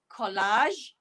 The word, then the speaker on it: collage: Okay, so the ending is the j sound. Again, listen to me. Beige, collage, and garage.